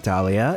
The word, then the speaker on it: Dahlia: My name has a silent H in it? Yeah, Dahlia. It's after the A and not before the Leah. How could you not know that?